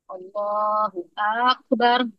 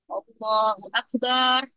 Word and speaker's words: Allahu Akbar: memperpanjang bacaan huruf ba kita dalam Akbar itu dipanjangin Allahu akbar kan Nah ini berubah maknanya dari yang terbesar menjadi artinya gendang atau buk bukan Allah maha